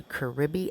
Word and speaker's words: Caribe: So you could go there beside Super Pola and go to Caribe Express. In English, it is pronounced Carib.